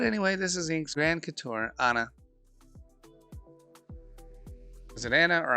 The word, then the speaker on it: couture: So it's Couture.